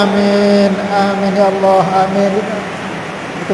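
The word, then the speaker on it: آمين: itu pertama dengan cara memanjangkan hamzahnya dan memanjangkan mimnya. Amin. Tanpa ditasdid. Jangan ditasdid. Kalau ditasdid rusak artinya. Jadi alifnya dipanjangkan, minnya juga dipanjangkan. Amin. Jangan bilang amin.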